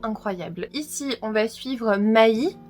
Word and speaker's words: Mai: Ici, on va suivre Mai. Alors, ça s'écrit M-A-I, mais j'ai bien demandé à ma sœur qui apprend le japonais, ça c'est bien Mai.